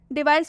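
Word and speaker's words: device: डिवाइस में सी के बाद ई आ रहा है तो डिवाइस में भी सी का उच्चारण स करेंगे।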